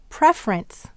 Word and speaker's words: preference: How about in preference? Now, here we have prefer and ants. Where is the accent in preference? You're right. It's on pref.